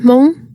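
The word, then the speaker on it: Hmong: dimples on a face Mong is pronounced Mong the word refers to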